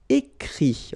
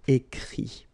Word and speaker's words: écrit: Écrire, to write, so ire, will give it, écrit, okay. Remember that even if you've got this final t, you don't pronounce it, so it goes like écrit, okay.